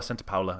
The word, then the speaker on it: Santa Paula: or paula santa paula santa paula i believe it's how it's pronounced california really amazing place